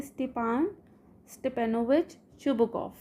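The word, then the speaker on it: Stepan Stepanovich Chubukov: ये एक रशियन नाम है, इसको हम इस तरह से पढ़ेंगे स्टेपान स्टेपेनोविच शुबुकॉफ। अब ये ठीक प्रोनाउंसिएशन है, स्टेपेनोविच शुबुकॉफ।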